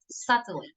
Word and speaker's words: subtly: say softly subtly okay you pronounce it uh without the B subtly in a manner that